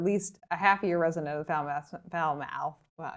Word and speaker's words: Falmouth: If you are not a full-time resident, or at least a half-year resident of Falmouth, well, now I'm pronouncing it like my best friend Jeff, Foulmouth.